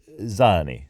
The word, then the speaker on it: Zanni: of the characters are called Zanni or Zhanni Zhanni I think is probably closer I'm gonna say Zhanni and these are characters